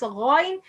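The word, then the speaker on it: غين: When some people pronounce qaf, gha, the sound confused, mix between the sound of ghain and the sound of qaf, and it's the big mistakes.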